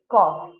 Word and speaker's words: cough: yeah but it is not CU it is cough okay cough c FF mad pronunciation ver okay okay yeah so the next